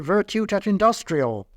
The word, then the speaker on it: Virtute et Industria: in the bargain, because we natives do pronounce it Virtute et Industrial.